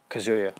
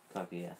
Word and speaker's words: Kaguya: The Tale of Princess Kazuya, the Prince in the new Ghibli one. Yeah. Do you know? I'll totally pronounce it wrong. You I pronounce it think right. that's... Let me see. What? Kaguya, yeah.